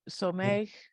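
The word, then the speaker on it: סומך: So somech. Adonai. Lokol. Was that Someach or Someach? I should have said. Hanof. It's Somech. Yeah.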